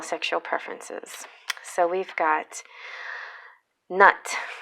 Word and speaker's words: Nut: preferences so we've got nut that's how you pronounce it this is not nut and she is a